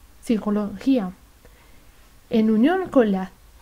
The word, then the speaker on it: psicología: español se pronuncia p en los grupos de letras como p s p n es muda psicología en unión con la